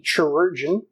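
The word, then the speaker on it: chirurgeon: the research fields is the chargin that's the word corrosion to help you if you look strange on paper it's sort of rhymes with surgeon I think it's supposed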